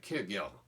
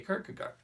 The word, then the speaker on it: Kierkegaard: They'll say, well, his real name is Kierkegaard, right? And I'll say, well, okay, thank you. Now, really, that's not even close either. In Danish, it's something like Kierkegaard, right? But I'm not going to say that. So I just say Kierkegaard.